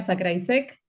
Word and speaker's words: Zakrajsek: Tal cual, difícil de Soy pronunciar. sí, soy Sakraisek.